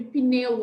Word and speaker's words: pneu: Quem é que lembra da dica que a prof deu sobre pneu ontem? Lembra que a prof falou sobre o P, que ele é mudo, que ele tá ali sozinho?